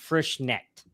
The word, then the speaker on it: Frischknecht: Our producer has let me know that it's pronounced Frischknecht.